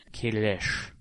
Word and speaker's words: Kahless: Kahless. Yes, you have to say the SH sound at the end, even though it's spelled SS, but but they actually